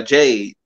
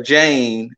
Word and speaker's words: Jade: yeah that's why he calls her jane instead of jade so she's jane cargill and then on the wwe